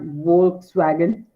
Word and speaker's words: Volkswagen: So the correct pronunciation is Volkswagen. It's not Volkswagen, right?